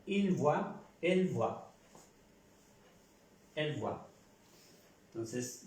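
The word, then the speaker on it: voient: está corregido, es que se pronuncia como esta tercera persona del singular. Je vois, tu vois, il, elle, on voit, nous voyons, vous voyez, il, elle voit. Se pronuncia igual que aquí. Solo cambia la gramática, la escritura. La pronunciación es igual.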